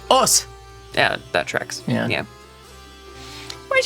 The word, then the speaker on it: Osu: There's no reason you should know this, but I believe you don't pronounce the U. I think it's just us.